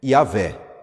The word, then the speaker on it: Iavé: Porque o nome de Deus, quando você vai transliterar do hebraico para o português, fica YHWH. É meio difícil a gente pronunciar, tá? Porque o hebraico não possui vogais, né? Então, YHWH. Aí é Iavé.